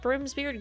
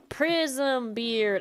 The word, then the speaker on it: Prismbeard: But where did Primbeard grow up? Maybe we could ask Caller if she's got any books on Primbeard. Prismbeard. I have been saying his name wrong the entire time.